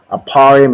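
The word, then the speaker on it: אפרים: Aparium is how you say Ephraim in the Hebrew, and it means I am doubly fruitful, right?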